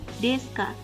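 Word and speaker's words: ですか: Wa kata benda dua Deska Jadi kalau ada kalimat tanya di belakangnya wajib pakai Kak Hai tulisannya desuka Tapi bacanya Deska di Indonesia contohnya Apakah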